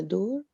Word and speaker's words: dor: Eles sentiam muita dor. Muita dor. Dor is pronounced without R. No, you have to say the R. Door. Dor.